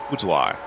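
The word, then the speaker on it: boudoir: That's how you pronounce that. Sorry, budoir.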